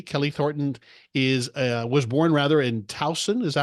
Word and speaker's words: Towson: Kelley Thornton was born in Towson. Is that how you pronounce it? Towson, Maryland? Towson, Maryland.